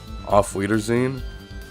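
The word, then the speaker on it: Auf Wiedersehen: How do you pronounce this? Off weerine.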